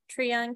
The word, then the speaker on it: Tryon: How are now defunct counties researched, such as, I'm not sure how to pronounce it, Tryon County? Tryon, yeah, you were right the first time.